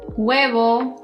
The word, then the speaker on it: huevo: Si pronunciaste hola, huevo, hermano, alcohol. Bueno, felicitaciones, todo bien. La H en español no tiene un sonido, es muda. No importa dónde esté posicionada, simplemente no se pronuncia, excepto cuando hay una C delante de la H.